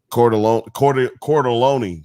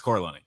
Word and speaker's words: Corleone: Cordelone. Nick Cordelone. Nick Cordelone. Oh yeah, it's Corleone.